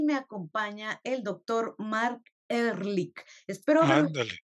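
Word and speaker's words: Marc Ehrlich: Yo soy y me acompaña el doctor Mark Ehrlich. Espero haberlo Ándale, pronunciado bien.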